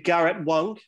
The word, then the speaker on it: Garrett Wang: four uh tea break podcast we've got mr garrett wong probably better pronouncing it thank you for pronouncing it correctly